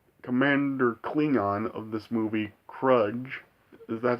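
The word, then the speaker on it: Kruge: And, of course, we also, in this movie, have Christopher Lloyd as the Commander Klingon of this movie, Krudge.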